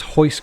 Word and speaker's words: Royce: Is it Royce Gracie? I thought it was Hoist Gracie with an H. So they're a Brazilian family, and Portuguese. R's at the beginning of a word are pronounced with an H.